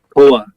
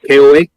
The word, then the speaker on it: Koa: My next But it guess is a- was Koa. I think that's how you say it. KOA.